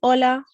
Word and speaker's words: hola: you if we remember the h sound is completely silent in spanish so saying hola we're not pronouncing that sound at all then we have buenos